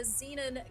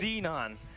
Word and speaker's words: Xenon: ABC Esports versus the Zenan gang that we never knew how to pronounce correctly until this point. Yeah, I've been saying that for 3 years. WDCon, when it turns out it's Xenon.